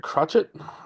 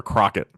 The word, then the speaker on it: Crochet: Matt, Garrett Crotchet. I believe I've heard him pronounced in a press or announced in a press box under that once, or Crockett. Yes, Garrett Crochet is.